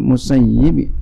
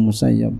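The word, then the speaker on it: المسيب: Rawal Bukhari telah meriwayatkan Imam Bukhari an Sa'id bin Musayyib, boleh begitu bacanya, Musayyib juga boleh begitu. Guru saya ya banyak dua bacanya begitu ya, ada yang Musayyib, ada yang Musayyab.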